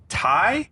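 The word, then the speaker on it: Tighe: like that we got Kevin Tai Kevin Ty I think it's pronounced Tai Kevin I don't know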